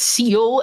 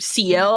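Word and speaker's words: Ciel: So anybody who says Seal instead of CL, I'm going to look at you funny.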